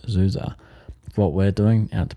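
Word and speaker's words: Du Già: You would head west and south to a town that looks like it's Dugia. It's pronounced Zuza.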